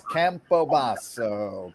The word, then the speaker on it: Campobasso: an Italian tutelage it's campobaso campobasa yes do it with an Italian Flair and you'll always remember